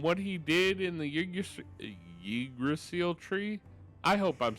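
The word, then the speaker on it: Yggdrasil: So, I know that the Y should be pronounced like E. Like, I'm I'm I'm mostly confused whether it should be igdrasil or Idrasil, right?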